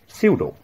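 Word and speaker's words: pseudo: সিউডো, উচ্চারণটা মনে রাখবে পি এস ইউ ইউ ডিও, পি এস ই ইউ ডিও, সিউডো false মিথ্যা, সিউডোনিম ছদ্মনাম, সিউডোনিম ছদ্মনাম।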